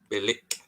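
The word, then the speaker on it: Bilić: The Croatians pronounce the C as ch. Ch. Bilic.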